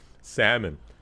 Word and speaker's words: salmon: Salmon, the L is silent. Is it? It is salmon.